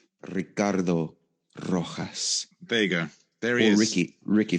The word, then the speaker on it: Ricardo Rojas Vega: it properly all right let's hear it it's ricardo rojas vega there he is ricky ricky for short oh